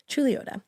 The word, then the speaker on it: Chuluota: But anyway, Chuluota.